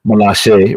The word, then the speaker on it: Milaje: She's a Wakanda soldier, right, from the Dora Milaje, right, because it's spelled Milaje, Milaje is pronounced Milaje, right, and she showed up, and I was like, oh wow, okay, this girl in the front right here, very very powerful.